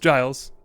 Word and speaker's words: Giles: The composer, Giles Lamb, and yes, it is pronounced Giles, I checked, had a goal of creating a trailer that captured viewers in a unique way.